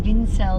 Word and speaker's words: Vincelj: And it was life easier, even trying to explain always, no, it's Vincelj, the J is silent and the C is not, and it's not Italian, it's Croatian. So yeah, that's how it started actually.